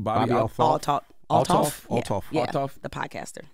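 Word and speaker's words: Althoff: and you had some words about his interview with, how you pronounce his name? Bobby Altoff.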